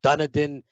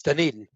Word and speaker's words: Dunedin: mispronounced all the time people call it dunadin dundin whatever uh it's dunedin and uh i have